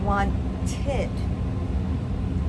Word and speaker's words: wanted: So when the verb ends in a d or t sound or the actual letter, that's when we have the it sound. Like I said, need. What sound do we hear at the end? Need d sound. So then we say needed. How about want? We have a t sound. wanted. Then we add the itid to that word.